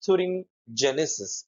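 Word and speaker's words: thuringiensis: Basilus thurine genesis or gianis both the pronunciations are seen in the world.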